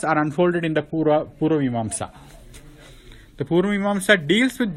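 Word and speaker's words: Mīmāṃsā: So how do you say that? Purva Mimamsa. Vimamsa? Yeah, Mimamsa. Oh, Mimamsa. Like the word Jijnasa Right.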